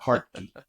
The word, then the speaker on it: Hartke: People pronounce it all kind of ways. That's the way I pronounce it, Hartke.